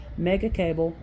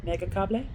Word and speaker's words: Megacable: bike, and he's carrying Megacable modems. And that's not how they say it here. Megacable, I think.